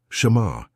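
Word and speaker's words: שמר: Pronounce it with me in a low voice wherever you are. Shamar. Shamar means to watch, to guard, to protect.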